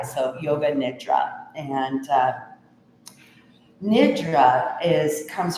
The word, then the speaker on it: yoga nidra: Uh you've heard it pronounced yoga nidra but uh the true Sanskrit is is a little i not a long i. So yoga nidra and uh nidra is